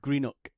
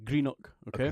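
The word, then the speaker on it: Greenock: of Scotland called Greeno so it's it's just it's spelled like g r e n o c k Greeno okay and a lot of people who don't come from Scotland call it granok right but it's greenook I want to make that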